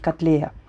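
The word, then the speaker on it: каттлея: Вернее, ну, для меня, я привыкла, что это лилия пурпурата, хотя сейчас правильно говорить котлея.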